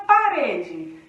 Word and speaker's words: parede: A palavra parede. Parede, ou olha a parede, né? Então, aqui o re é a nossa sílaba mais forte.